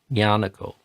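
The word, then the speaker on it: Ñāṇiko: is Ajan Yano and his name starts with that sound Yanuko and if you just hear his name like an average English person if they just hear his name and they they don't see it written they might think it starts with a Y because of the the way English language works but it starts with this very sound this ny Yano Yano.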